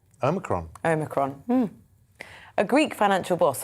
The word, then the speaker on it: Omicron: He says the Greek O should be said as in or, as it is in modern Greek.